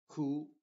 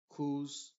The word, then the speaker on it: who: sí se pronuncia diríamos Who Who whom Ho Ho entonces la W acá en estas cuatro palabras es completamente muda y la W en